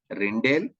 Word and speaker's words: Rijndael: Of course, some people rhyme it as Rijndael also, but doesn't matter. My pronunciation is Rijndael.